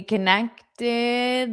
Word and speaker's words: connected: It's because the ED is pronounced as id. Id. But then, because we have that T, it'll be tid. Tid. Connected. Connected. Connected.